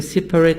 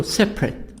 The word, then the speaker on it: separate: comfortable separate separate asylum i don't say separate no separate so vegetable interesting comfortable